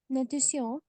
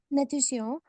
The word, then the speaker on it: natation: And for the T-I-O-N, so the pronunciation here is sion, okay? And this is a pattern that you will recognize in many words in French.